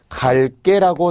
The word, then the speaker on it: 갈게: 것이 표기와 발음의 차이죠 세실 발음은 갈 깨라고 나는게 맞죠 하지만 표기는 갈게 라고 적지 않는다는 거죠 대 것도 마찬가지로 이